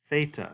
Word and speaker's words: theta: And theta is a TH sound, whereas in English we need two letters to indicate this pronunciation, TH. In Greek, you just need the one letter, theta. Now, I do want to point out, it is a TH sound, but it's like the TH in think, or thing.